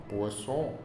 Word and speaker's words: Poisson: Pronúncia um pouquinho enjoadinha, né? O francês é interessante, tem que fazer biquinho, né? Poisson.